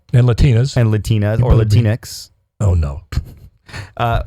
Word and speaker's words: Latinx: Latinas and Latinas or latinx oh no uh after rhymes with Kleenex and they don't want